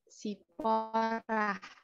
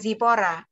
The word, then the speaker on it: Zipora: Mungkinkah saya pronunciation saya mungkin salah? Panggilannya siapa? Oh benar, Zipora. Oke. Tak pikir saya salah. Saya jadi keinget Zalora. Oke, gimana Zipora? Panggilannya benar Zipora kah? Iya.